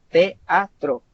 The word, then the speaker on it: teatro: Teatro. Si ustedes se fijan, teatro. Es trisílabo, perdón. Teatro. Son tres sílabas y si ustedes pueden verificar la palabra, sí tiene un diptongo.